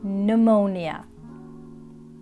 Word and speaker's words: pneumonia: words after me and remember the p is silent pneumonia psychopath receipt raspberry and